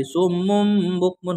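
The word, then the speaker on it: صُمٌّ بُكْمٌ: Jadi cara membacanya ada bunyi mimnya. Bunyi mimnya. Jadi summum bukmun, bukan wakof.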